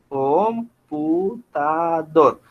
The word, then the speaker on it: computador: Computador. Entonces, la fuerza o el acento está en esta sílaba. Yo digo computador, ¿sí? Mire que esa fuerza yo la hago en esta última sílaba, ¿sí?